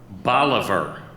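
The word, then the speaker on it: bolívar: of Venezuela can you repeat the word please Bolivar Bolivar bol I ve R Bolivar Bolivar is spelled bol I V a are a great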